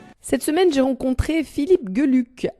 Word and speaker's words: Geluck: On dit Geluck en Belgique parce que c'est un nom flamand. Voilà, le GE se prononce Ge, là, ça veut dire bonheur.